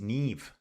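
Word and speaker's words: Niamh: Uh, Neem is pronounced nev.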